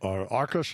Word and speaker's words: Arkus: you sat down with Michael Arkus, that's the way you pronounce his name? Yes. Had you ever told anybody else other than him?